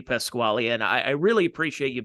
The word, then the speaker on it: Pasquale: Cheese back in the day, and I remember Pasquale is one of the...